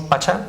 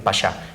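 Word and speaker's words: paşa: Entonces si decimos pacha es mejor decir pasá e incluso escribirlo con sh.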